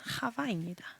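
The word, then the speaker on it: חוה: 그래서 실제 이름은 하와다. 하와의 이름은 하와입니다. 네.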